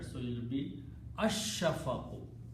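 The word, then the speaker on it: الشَّفَقُ: here, so it becomes al shafaqu, but lam, sheen is a shamsi letter, so it will be ash-shafaqu. Lam will not be pronounced, sheen will be pronounced twice, so it will become ash-shafaqu.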